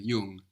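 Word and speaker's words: jung: brother is young it's like the English n g actually so you don't really hear a g here it's more nasal Yung y good my is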